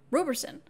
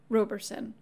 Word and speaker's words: Roberson: should pronounce the name Roberson this has always been a bit of a fun debate for staff some say robe others say Robb some say tomato others